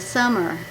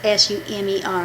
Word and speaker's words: Sumer: Hebrew, the word you are, the you're, that is the capital of summer. I may not pronounce this right. It's S-U-M-E-R. I figured it's like summer, but our summer has two M's.